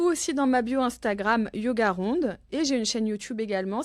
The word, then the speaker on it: yogarond: dans ma bio Instagram yogarond et j'ai une chaîne Youtube également si vous voulez pratiquer yoga ronde c'est facile comme ça se prononce tout attaché merci beaucoup à bientôt